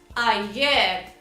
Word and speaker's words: ayer: O que o brasileiro faz? Ayer, com o E aberto. Não tem que pronunciar a vogal E aberta nessa palavra. É ayer, ayer. Além do E fechado, o Rzinho do final você tem que dar uma enroladinha na língua, né?